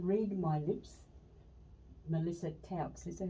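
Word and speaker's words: Tkautz: Melissa Touts. Is that how you say her name? Touts. Silent T. Touts.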